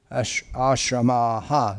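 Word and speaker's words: आश्रमः: Ashramaha, that should be. There should be a long A at the end of the word Ashramaha.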